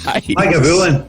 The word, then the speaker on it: Lagavulin: How do you pronounce Lagavulin? Because we've heard so many different ways. Lagavulin.